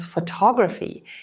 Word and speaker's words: photography: The word photograph is stressed as photograph, but photography becomes photography. These are the same root words, but with different stress patterns.